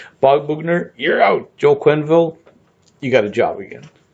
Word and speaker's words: Quenneville: I think his name rhymes with Smallville. Quenneville?